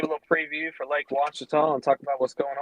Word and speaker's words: Ouachita: Appreciate y'all having me on tonight and ready to give a little preview for Lake Ouachita and talk about what's going on down there.